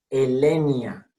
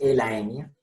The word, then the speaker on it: Elaenia: Ecuador viene de aequator, que no pronunciaban los latinos ecuator, sino ecuator. Entonces, A con E, siempre E. Momotus equatorialis. Elenia flavogaster, Franci en este caso. No es Elaenia.